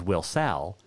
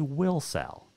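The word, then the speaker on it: Wilsall: actually it's w-i-l-s-a-l-l wilson or also known as will sal was named after the town's first couple will and sally that is how will cell got its name and a correct pronunciation is will sal did you know that clyde park used to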